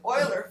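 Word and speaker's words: Euler: with Horn's method and this funny pronunciation I have is because this is a German both Oiler and Horn are German Nam so this is the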